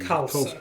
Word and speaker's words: Khalsa: Sporting Is that Khalsa. the pronunciation? Khalsa.